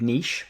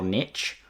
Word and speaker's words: niche: regards to my specific niche or niche. That's what us Brits say.